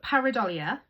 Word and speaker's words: pareidolia: And it's pronounced par A do le.